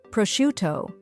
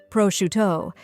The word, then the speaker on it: prosciutto: Some examples include salami, suh-lah-mee, prosciutto, proh-shoo-toh, pâté, pah-tay, fromage, froh-mahzh, cornichons, koh-nee-shohn, baguette, bah-get.